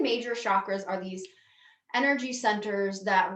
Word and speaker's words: chakra: The 7 major chakras are these energy centers that run down the midline of the body. And the word chakra or chakra, you may hear it pronounced, means wheel of light or wheel of energy.